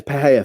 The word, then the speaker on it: Pereira: P per Pera or Pereira they actually I think you actually pronounce it in pereira's name no no it's Pera for that one you pronounce it in Alex pereira's name but Mikel Pera should